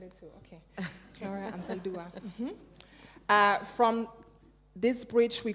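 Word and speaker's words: Anzaldúa: Okay, Gloria Ansaldúa.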